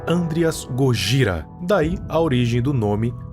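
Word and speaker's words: ゴジラ: Black M porque é o nome do químico do Serizaua e Godzilla porque é a pronúncia em japonês de Godzilla. Gogra.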